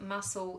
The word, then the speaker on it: muscle: you have a big muscle in your arm now what's the silent litter there hopefully you can hear that it's the C we just say muscle then we write another